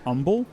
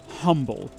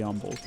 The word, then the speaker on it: Humble: of Texas pronounces it humble like the H is silent and you can always